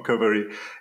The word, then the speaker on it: Qovery: It's Romaric, Philogène from Qovery. Yeah, happy to be here. I'm a CEO and co-founder of Qovery.